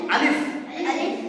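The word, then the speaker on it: ألف: বলো আলিফ। বলো আলিফ। এটা কিন্তু আলিফ নয়, এটা কি হবে? আলিফ। আলিফ যখন বলবে তখন উচ্চারণটা স্পিড হবে।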